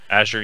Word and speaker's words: Azure: It was the first game that completely made use of the Microsoft Azure. Is that how you say it? Azure, yep.